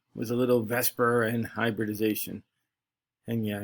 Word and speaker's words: VSEPR: 2 was a little vesper and hybridization and yeah i know it looks more like the zephyr i don't know why people pronounce it vesper i guess it just